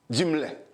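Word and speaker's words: Dumesle: La prononcé pour moi, non écrit D-U-M-E-S-L-E. Dimle.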